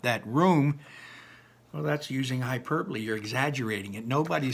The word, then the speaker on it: hyperbole: pop onomatopoeia can finally for today try to pronounce that word most of you will say hyperbole it isn't it's hyperbole students use hyperbole a lot kids use hyperbole